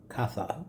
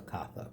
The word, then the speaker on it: Katha: But those books, especially one in that group called it Katha, K-A-T-H-A, Upanishad. It's pronounced U, not up.